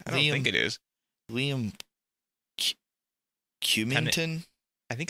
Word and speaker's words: Liam: Well, no, not Ian. Liam. It's Liam. Liam. It's like Liam Neeson.